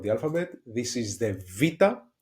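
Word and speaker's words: βήτα: second letter of the alphabet this is The vita vita it is pronounced and we have a very good example here.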